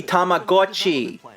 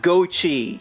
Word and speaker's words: Tamagotchi: Well, even if you did emphasize the Go, it would still be Tamagotchi, not Gochi.